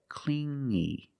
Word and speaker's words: clingy: You hear the sound only the nasal sound here, no G, not clingy, but clingy, clingy.